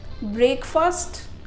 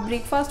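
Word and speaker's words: breakfast: ब्रेकफास्ट। आप ब्रेकफास्ट बोलते हैं, ये गलत प्रोनाउंसिएशन है। ब्रेक फास्ट नहीं बोलना है आपको, बोलना है ब्रेकफास्ट, ब्रेकफास्ट, ब्रेकफास्ट नहीं ब्रेकफास्ट।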